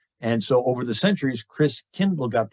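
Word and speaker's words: Christkindl: come from the Christ child and the German pronunciation of Christ child is Chris Kendall like uh kindergarten KinderCare kind nice child Chris means Christ and so over the centuries Chris Kindle got pronounced Kris Kringle interesting so Chris Kringle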